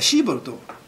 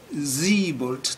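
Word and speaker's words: Siebold: 行ってきたシーボルト正確には水没というふうに濁って発音しないといけないんですがまあ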